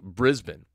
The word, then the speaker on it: Brisbane: I'd like to stay in Brisbane after my contract runs out. By the way, if you notice, I'm saying it differently this week. I'm saying Brisbane.